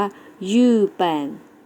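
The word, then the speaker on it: 日本: นั่น เอง ประเทศ ญี่ปุ่น แล้ว จะ ออก เสียง ว่า ยืด แปลน นัก เรียน เอา ออก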